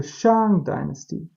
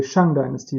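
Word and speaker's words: 商: This is the Shang Dynasty. The English people say Shang Dynasty, but the correct pronunciation is Shang Dynasty.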